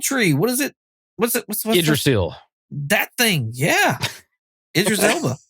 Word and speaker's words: Yggdrasil: I think the technical pronunciation is Yggdrasil, but yeah, anyway. Yeah, I had that down as we get to see Yggdrasil.